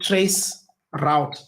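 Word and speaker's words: tracert: I'm going to introduce a new command that we haven't spoken about, and that command is called trace route, but it is spelled as trace RT.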